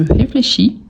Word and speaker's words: réfléchis: a je réfléchis je réfléchis le verbe à l'infinitif réfléchir réfléchi donc le S ici à la fin on ne les prononce pas je réfléchis n'oublie surtout